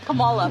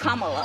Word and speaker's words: Kamala: Earlier you said Kamala. The way she pronounces her name is Kamala.